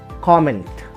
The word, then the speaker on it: comment: So the only exception to it is the word comment. Understand, guys? Comment is the only word which has got two syllables, but the point is it works as an exception. Whether you use it as a noun or as a verb, it remains the same. Its pronunciation never changes, right?